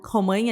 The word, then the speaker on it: Romagna: Nas redes sociais eu tô como Romanha, então Romagna, Romanha igual lasanha, né? Uhum. Se escreve lasagna, se fala lasanha, Romagna, Romanha.